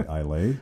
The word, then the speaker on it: Islay: Now, can tell you spell Islay? Come on. You know, Matt, you're on record here. I can probably spell it better than I can say it, because I still say Islay.